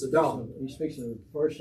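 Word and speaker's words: אָדָם: Now, I know you thought his name was Adam, but it's not Adam, okay? It's Adam. In Hebrew, almost always the accent's on the last syllable, unless it's specified otherwise.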